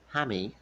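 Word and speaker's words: Jaime: His name is Jamie. Of course, in Spanish it's pronounced Hammy.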